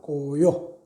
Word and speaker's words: 고요: 도자기 도자는 사람 이름일 때는 요라고 발음을 합니다. 고요.